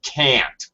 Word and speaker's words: can't: So that we can contrast that with the negative can't, which is going to have full pronunciation. It's going to be a slightly higher pitch. Uh full pronunciation of the a sound.